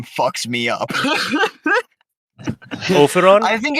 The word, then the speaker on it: Ophiron: why Just I decided at the very start of this one to have pronounced Ophiron.